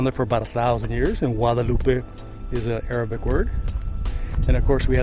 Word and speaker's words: Guadalupe: From Guadalupe, pronounced Wada, with it like a W instead of the G sound. It's Guadalupe River State Park.